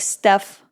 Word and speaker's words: steppe: And despite being called the steppe rhino, you could actually find this rhino patrolling forests and I think I pronounce it wrong. It's more like steph, not step. Well, it sounds close enough.